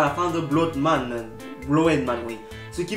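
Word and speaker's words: Blödmann: Le O tréma ensuite se prononce comme un OE, comme oeil. Par exemple, parce qu'on est loin d'avoir terminé la liste, on prononce Blowed Man qui veut dire connard.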